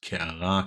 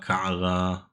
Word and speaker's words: קערה: Notice that this is a kuf and an ein. And we don't really pronounce this correctly or as it traditionally is supposed to be pronounced. So most people will say ka'ara, which sounds like a aleph, but it's ka'ara, whatever.